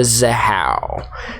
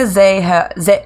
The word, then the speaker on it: Zahau: Rebecca Zahau, I'm sorry, I'm butchering her name. How do you say it, Zahau. Cody? Zahau.